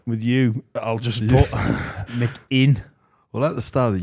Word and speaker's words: McInnes: Not McGuinness.